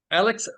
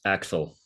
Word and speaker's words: Axel: Alex, yeah? Have I pronounced it correctly, Alex? Yeah, it's correct, but it's Axel.